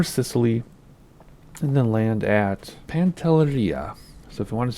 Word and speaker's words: Pantelleria: And then land at Pantelleria. So, Pantelleria. I keep wanting to say it like Spanish. It's not. It's Italian.